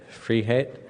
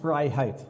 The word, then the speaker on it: Freiheit: right Arriva free now my last name is fry height it's freedom in